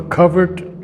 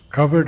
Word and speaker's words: covert: Out of a covert tract of slumber self, covert, of course, is hidden. We say in America covert and in other places, but the British pronounce it covert.